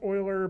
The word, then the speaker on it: Euler: the menu curves euler filter right there it's pronounced euler but it looks like euler eu ler when